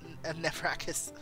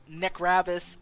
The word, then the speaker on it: Nevrakis: Date says, oh my god, after years of saying Olivia's name wrong, I realized it's Nevrakis. I always read it as Necravis.